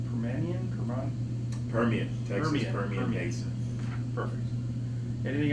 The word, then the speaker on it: Permian: Is it pronounced Permian? Permian, Texas Permian Basin.